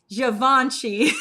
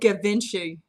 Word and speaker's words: Givenchy: garbod what's another one oh givenchy javanchi i think that's really what it is right or or something but i said kavinci like davinci code if that's committing a